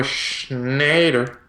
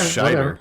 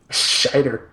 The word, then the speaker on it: Scheider: There's no N? Yeah. I always thought it was Schneider. Maybe it's Scheider. I don't know. Scheider.